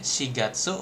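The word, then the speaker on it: 四月: Kalau pakai si dia berarti untuk bulan sigatse.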